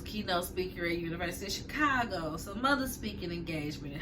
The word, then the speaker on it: Chicago: And Eddie was like, "Are you saying Chicago like chicken?" She's like, "Yeah, ain't that how you say it?" No, that ain't how you say it. She's like, "Well, I'm saying it like the mobsters," and he's like, "Don't